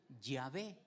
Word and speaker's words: Yahvé: U otros le pusieron, ya ven lo que me hacen decir, le pusieron la A y la E y lo leen Yahvé. Las vocales se las pusieron para poder pronunciarlo, pero en realidad su nombre es este.